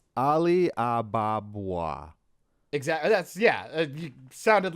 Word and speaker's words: Ali Ababwa: How do you pronounce it? Because I never really paid attention back in the 90s Disney. It's Ali Ababwa.